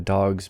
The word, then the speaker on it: dogs: cats voiceless sits voiceless but dogs voiced gets voiced into sort of a z dogs goes like she goes